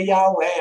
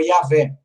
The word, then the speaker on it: Yahweh: E nessa revista eles admitem que a pronúncia mais provável do nome de Deus seria Yahweh ou Yahvé.